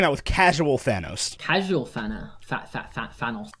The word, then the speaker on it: Thanos: Casual Thanos. I still call him Thanos. Thanos, not Thanos, because Thanos sounds really weird from me.